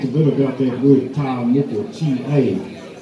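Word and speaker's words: tā moko: Yesterday I talked a bit about that word TaaMoko, T-A. T-A with a macron, or you can spell it T-A-A. It's a long A sound, TaaMoko.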